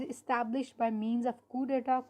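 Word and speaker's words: coup: establish by means of कु data कु spelling C ओ यू पी डी हा इसको क्या बोलेंगे हम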